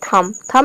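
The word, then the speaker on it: thumb: Next है थम में भी यहाँ पे थंब नहीं होता है, ये होता है थम। एम के बाद बी आ रहा है, यहाँ पे बी साइलेंट है।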